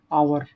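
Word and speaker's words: hour: जैसे मान लो एच आ गया, एच मतलब आवर लिखते हैं ना, आवर, तो है तो एच, एच तो कॉन्सोनेंट है, बट उसका हिंदी में उच्चारण देखो तो आवर बोलते हैं, यानी अ बोलते हैं, यानी अ, आ, ई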